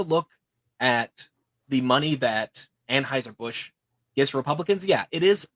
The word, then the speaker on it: Anheuser-Busch: going to make sure I say it correctly, Anheuser-Busch.